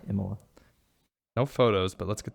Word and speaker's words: Imola: Is that how you pronounce it? Imola. Imola.